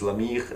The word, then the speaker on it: La Myrrhe: talking about is called La Myrrhe. There's no way of pronouncing it in English, so the French pronunciation is La Myrrhe, and I'm gonna show